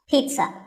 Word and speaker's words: pizza: it's not a pizza there's no z sound in this word it's peat sun pizza another food word that's